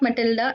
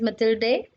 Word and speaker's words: Mathilde: So this is not Matilda, it is Mathilde.